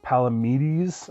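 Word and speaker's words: Palamedes: to play properly and it's palamides i believe is how it's pronounced um but basically it's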